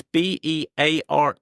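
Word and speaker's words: Beare: family here in Wadebridge, but it's spelled with an E on the end. So, it's b e a r e, but it was pronounced as Bear.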